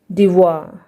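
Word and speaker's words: devoir: Examples D ई वी ओ आई आर, यहाँ पे देखिए ओ आई के बाद आर है तो यहाँ पे ओ आई का जो उच्चारण है वो वा होगा और आर साइलेंट होगा। डिवा, क्या पढ़ेंगे इसे, डिवा।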